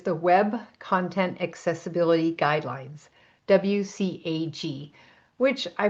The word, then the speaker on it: WCAG: The best known W3C accessibility standard is the Web Content Accessibility Guidelines, WCAG, which I pronounce WCAG, but I'll say WCAG today.